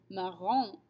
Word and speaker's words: marrant: The masculine version, marrant, does not sound the same as marrante, the feminine version.